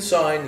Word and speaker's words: sign: signing things and usually in sign you don't pronounce the G and you will MIT